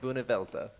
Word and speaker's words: Bhunivelze: in the game this they do now it's bhunivelze oh all right time for the final boss